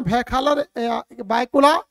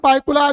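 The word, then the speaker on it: भायखला: और इसका नाम है भैखला रेलवे स्टेशन। ठीक है, भैखला इसका नाम है और बायकुला जो है उसका प्रोनाउंसिएशन करते हैं, आम जनमानस में बायकुला के नाम से जाना जाता है लेकिन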